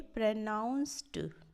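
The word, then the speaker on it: pronounced: एंड प्रोनाउंस ये जो होता है लास्ट में ईडी, इसको ड नहीं बोल के ट बोला जाता है, ठीक है, प्रोनाउंस्ड ट, ठीक है, प्रोनाउंस्ड, प्रोनाउंस्ड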